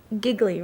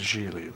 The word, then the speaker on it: Gigli: to be won in the first place Larry giggly right I saw it on the mailbox yeah it's pronounced Gigli like really that's right Julie was crafted by